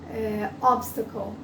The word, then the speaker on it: obstacle: Então, por exemplo, o obstacle, se eu for falar obstacle, e aí eu quero me lembrar que aquele T é mudo, mas eu já estou